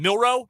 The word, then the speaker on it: Milroe: Milroe? Is that how you pronounce his last name? Yeah. Jaden Milroe? Jaden Milroe, yeah.